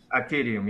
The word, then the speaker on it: Atidium: Are we pronouncing it correctly? ATIDIUM? ATIDIUM, yes.